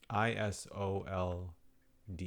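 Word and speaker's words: Isolde: I think it's a Zelda pronounce the pronunci pronunciation is S O L D. I S O L D E.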